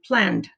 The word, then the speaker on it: planned: case, like the end, the ed makes the d sound. It's still, the e is silent, so it makes the d. So we say planned. Planned is still one syllable.